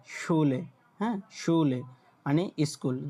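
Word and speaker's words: Schule: এই যে দেখেন শুলে, শুলে, হ্যাঁ, শুলে মানে স্কুল, যখন এস সে হা একত্রে থাকবে তখন আপনার উচ্চারণটা আসবে তালবাস্যর মতো, এরকম আসবে, শুলে মানে স্কুল।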